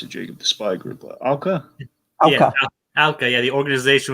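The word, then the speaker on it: OWCA: How do you pronounce it, Jacob? The spy group, Alka.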